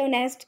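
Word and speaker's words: honest: Some words have initial consonants which are not pronounced, मतलब consonants letter होते हैं लेकिन हम उन्हें प्रोनाउंस नहीं करते, जैसे ऑनेस्ट के अंदर एच को, रैप के अंदर डब्ल्यू को, नॉक के अंदर के को।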